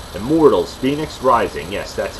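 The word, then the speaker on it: Fenyx: Number 4, Immortals, Phoenix Rising. Yes, that's how you pronounce it right there. It doesn't look like Phoenix, like the city Phoenix, but yes.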